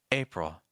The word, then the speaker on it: April: present March April April the hardest thing here is going to be that second syllable make sure you're not saying it's Pro we're ending on a dark l sound the front of your tongue is actually down here the back of your tongue is a little high and you want lots of air to pass through oh April April go heavy on the first syllable nay May notice that